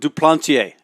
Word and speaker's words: Duplantier: front hedgpeth Franks and duplantier and he does want the French pronunciation here is from New Orleans so say his teammates